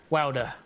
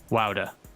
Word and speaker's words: Wouter: Is that the correct pronunciation of his name? I've never Wouter, found out. yeah. Wouter. Wouter.